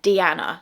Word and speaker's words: Deeanna: So my name is actually said Deeanna, so that is how you pronounce my name.